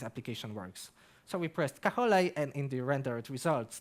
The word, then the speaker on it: Caja: now and Carson's box in Spanish this is why it is pronounced kaha we have some documentation